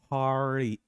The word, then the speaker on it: party: t y okay now normally speaking it is party party and the T becomes du which is